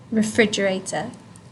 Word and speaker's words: refrigerator: you would remember to place the emphasis or the stress refrigerator on the eye okay free refrigerator Frieza